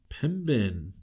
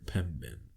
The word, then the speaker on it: Pembine: who witnessed a Bigfoot crossing the highway near Pembine. Is that how you say it? Pembine? Pembine.